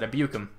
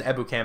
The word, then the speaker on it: Ebukam: I think that's how you pronounce that, Ebukam. I think I said Ebukam a couple times. I'm pretty sure it's Ebukam. I'm throwing him the middle